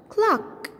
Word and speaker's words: clock: the world clock clock here we have C plus K okay c plus K the two letters make the sound KKK but we pronounce just one sound okay we pronounce just one kid we say cluck-cluck-cluck also